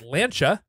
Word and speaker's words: Lancia: as people in our comments section said, it's pronounced Lancia.